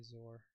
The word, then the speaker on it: XOR: The difference between the largest exor value and the smallest exor value is the exploded pair. Uh actually how do you pronounce exor? Some people say zor.